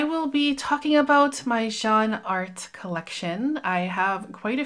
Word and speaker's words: Jeanne Arthes: a while has told me that it's actually pronounced Jean art so I'll try to remember that it's Jean art and not Jean arthas because I've been saying arthas for a while